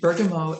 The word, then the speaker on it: bergamot: the next one is called bergamot or bergamo if we pronounce it in the uh french or italian way it comes from the